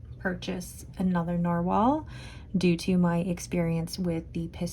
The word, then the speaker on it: Nahvalur: It's spelled Nahvalur, but it is pronounced Narwhal, and the model is Nautilus, if I can spell.